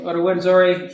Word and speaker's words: Rwanda: And so the company that I used is called Rwanda. Oh, I misspelled it. There's no U. It used to be spelt with a U, and they took it away.